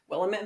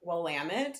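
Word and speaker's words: Willamette: willit Valley Oregon and I always mispronounce that but actually I recently learned it pronounce wamit I met orgon they were my Uber driver once and they said the local saying is it's wamit damn it oh how to pronounce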